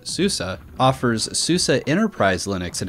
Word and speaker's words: SUSE: already know Susa the company which looks like soos but it's actually pronounced Azusa offers Susa Enterprise Linux and has a business